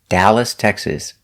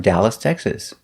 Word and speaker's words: Dallas: the valley very good the name of the city dallas texas we make the sound a like apple we don't say dallas or dallas it's da dallas i'm from dallas texas dallas is a big